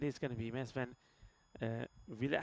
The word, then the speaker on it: Villet: It is going to be Mesven Villet. How do you pronounce it? I'm saying Villet. What are you saying? It sounds like you're saying it with an F.